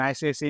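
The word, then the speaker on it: ICICI: एन आईसीआईसी branch N आईसीआईसी employee इसको इक्की इकी नहीं पढ़ते है एंड आईपीएल प्लेयर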